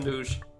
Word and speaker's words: Anuj: Nah, it's not a nudge, it's a Anuj. I was pronouncing the name wrong.